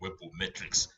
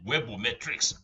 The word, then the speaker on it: webometrics: Webometrics rankings. Mind how I pronounce this. I did not say webometric rankings. I said webometrics rankings.